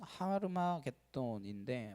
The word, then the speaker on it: 하르마겟돈: 아마겟돈의 정확한 발음은 하르마겟돈인데 마겟돈은 산입니다.